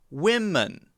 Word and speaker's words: women: woman whoa men and women women women woman and women I know that's a little difficult to hear but the difference here is in both vowel sounds the first sound is